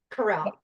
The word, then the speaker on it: Corral: Now, so how do you say your last name? Is it Corral? Help me say your Corral. Corral. Corral.